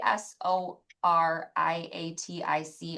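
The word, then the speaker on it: psoriatic: Um, what about P S O R I A T I C arthritis? Ra, can you try to pronounce that? Is that seroriatic?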